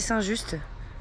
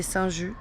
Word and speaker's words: Saint-Just: Je suis à Lyon, quartier Saint-Just. Alors, j'ai entendu qu'on disait Saint-Just, mais moi je dis Saint-Just, ça s'écrit juste.